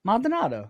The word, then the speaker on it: Maldonado: Mal- Maldonado.